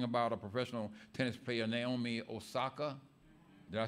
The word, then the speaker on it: Naomi Osaka: And in the news just last week, I heard them talking about a professional tennis player, Naomi Osaka.